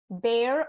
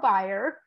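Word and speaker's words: Bayer: a science fellow from bear or buyer crop science uh depending on which part of the globe the pronunciation varies a little bit Dr dhanraj serves as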